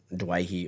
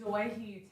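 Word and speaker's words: Doueihi: I think there's more SuperCoach in him than Adam Dewey or Dewey or however you want to pronounce his name. I just think the way that Dewey he plays. or Dwayhe? It's Dwayhe technically.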